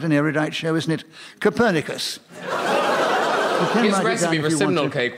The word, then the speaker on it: Copernicus: A less scholarly person than myself, indeed an ignoramus, might look at the name Copernicus and mispronounce it Coppernickers, a garment of extreme discomfort due to its inflexible nature.